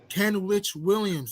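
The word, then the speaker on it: Kenrich Williams: know you talk about Ken witch Williams that's how you say his name Ken Rich Williams yeah oh no not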